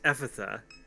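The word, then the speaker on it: Ephphatha: neither let's go so it's apparently pronounced epitha and it's aramaic for be opened you know what oh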